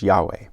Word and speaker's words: Yahweh: of god which is spelled with the consonants yhwh yahweh and so he actually